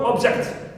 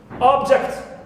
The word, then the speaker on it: object: So also for the word object. Object. If we stress the first syllable, it is noun. If we stress second one, object, becomes a verb.